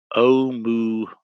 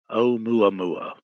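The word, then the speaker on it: ʻOumuamua: Brian is telling me how to pronounce this Hawaiian name. Okay. Oumuamua. Oumuamua. Okay, thank you. I will try to remember that. Oumuamua.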